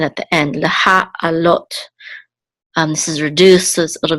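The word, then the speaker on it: לְהַעֲלֹת: So leha alot. This is the main accent at the end. Leha alot.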